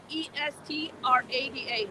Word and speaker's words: Estrada: Oh, my name is Jesú, Jesu, accent on the U, Estrada like the actor, Estrada.